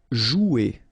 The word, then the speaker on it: jouer: Okay, remember you combine this O and U, you get the sound OU, so joue. Okay, J is pronounced like J, joue, and then ER here, you combine them at the end, et, jouer.